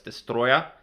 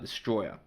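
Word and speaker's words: Destoroyah: Yes, it's pronounced that way. Destroyer! I know I did like an emphasis there, but it's Destroyer, not Destroyer.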